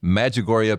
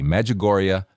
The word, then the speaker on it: Medjugorje: it sounds very good Med like medical j-u-g like jug and then o-r-j-e magagoria pilgrimage dot life the